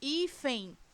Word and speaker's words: hífen: Em hífen, qual é a sílaba tônica de hífen? I. É, portanto, uma paroxítona, porque é a penúltima sílaba da palavra, e essa palavra termina em N.